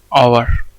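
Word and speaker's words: hour: He waited for एन आवर, ठीक है, इसको हम हॉवर नहीं पढ़ते, इसको क्या बोलते हैं, आवर, ठीक है।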